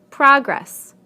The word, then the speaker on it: progress: Progress, progress. Contract, contract. Object, object. Permit, permit. Again, we stress the first syllable in the nouns and the second syllable in the verbs.